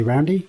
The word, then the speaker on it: Roundhay: Although I've also found that they don't pronounce it Roundhay, they say Roundy, which is, I mean, it's just the colloquialism, right?